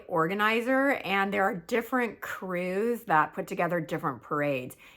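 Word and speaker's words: krewe: Now, crews are the people that make up the parade, and it's spelled K R E W E. K R E W E. Yeah. Not C R E W like you would think.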